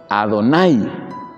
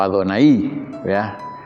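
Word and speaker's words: Adonai: en vez de usar el término ado nay o adonaí como se lo quiera pronunciar y adonay significa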